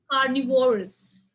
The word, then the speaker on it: carnivorous: in the first cell so english words ending with us but they are more than two syllables there are four syllables then where will you stress on the second one second one from the left anonymous carnivorous luxurious hilarious